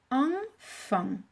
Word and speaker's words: enfant: Une lettre muette, le T, puisque tous les mots de la famille enfant ont un T.